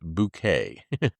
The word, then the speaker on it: Bucket: Uh she was best known for playing the snobby sitcom character H highestin bucket which that character always insisted that you pronounce bouquet.